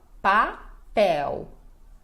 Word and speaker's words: papel: Este L final de palavra, sozinho, né, sem nenhuma vogal depois, nós pronunciamos como U.